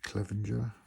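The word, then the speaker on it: Clevinger: Mike Clevenger, that's how you pronounce it.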